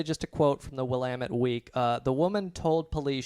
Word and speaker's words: Willamette: Was a Portland paper called the Willamette Week, or however you pronounce it. Willamette.